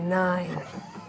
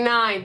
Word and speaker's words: Nein: fucks with the Mighty Nine. You see as like 3 of them are like quietly under their breath. But spelled like N-E-I-N. The Mighty Nine.